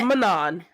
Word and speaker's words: Manon: I do say Manon, and I also get absolutely mocked for that, even though it is in the pronunciation guide. Wait, No, it is Manon. It is Manon. Manon. It Yeah, is. Manon. That's what the Manon. It's the worst name ever, but Manon is correct.